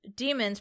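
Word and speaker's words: daemon: is the presence of demons pronounced demon but it's spelled with the that a and a character that are together I don't know what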